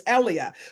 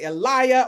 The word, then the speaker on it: Ellia: guess six or seven I knew my name was ellia and I would tell people my name was ellia well by the time I started school no one was pronouncing it correctly they would either say Eliah or Elijah or Elia it was all kinds of things and so and when